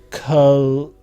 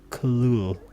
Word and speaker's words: Cthulhu: The actual sound may be taken as something like Cthulhu, with the first syllable pronounced gutturally and very thick. The U is about like that, not unlike Cthulhu.